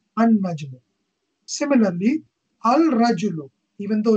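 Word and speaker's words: النجم: It's not pronounced as al-najmu, but it is pronounced as an-najmu.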